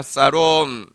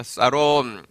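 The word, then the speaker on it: שָׁלוֹם: 사롬. 영어로는 샬롬이지만 히브리 발음으로 다시 한번 따라하겠습니다. 사롬.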